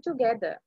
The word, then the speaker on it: together: How's everything coming together? Together. කියලා ආර එක together කියන්නේ නැහැ අපි. එතකොට ආර එක pronounce කරන්නේ නැහැ නේ අපි together එකේ.